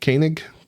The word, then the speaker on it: Koenig: a prominent role on TV and Walter Koenig Koenig I remember how to pronounce it instant Chekhov Uh Russian character who